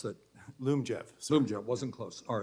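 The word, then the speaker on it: Lyumjev: that means uh I may be mispronouncing it Liam Jeff how do you pronounce that Loom Jeff Zoom jet wasn't close all right that's going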